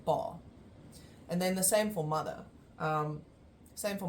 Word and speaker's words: Pa: my father is the first one which is bar and I know there's only one up after the P but we still pronounce it as a long or long a